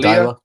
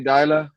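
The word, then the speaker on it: Deila: Ronnie Dyla. Ronnie Dyla.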